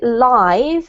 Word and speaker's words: live: in that particular case because you're using it as an adjective we pronounce it live and basically live means happening right now yeah um if you're talking